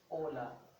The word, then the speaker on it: hola: a silent letter meaning that you do not give it any sound so it becomes a silent letter so for example i have ola so hola is a